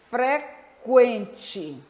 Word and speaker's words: frequente: Frequente, aquilo, queijo, leque, 50. Mas vocês podem observar também que em alguns casos o U é pronunciado, em outros casos não. Vejam, frequente, o U é pronunciado.